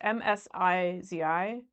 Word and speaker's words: Msizi: I think it's like Masizi. Masizi. It's Msizi. So she meets him.